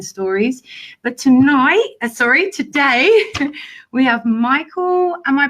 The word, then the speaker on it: Micheal: But today we have Micheal, am I pronouncing it right?